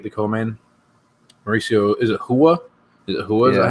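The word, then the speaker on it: Rua: Mauricio, is it Hua? Is it Hua? Is that how you say his name? Mauricio and then, Hua. Hua.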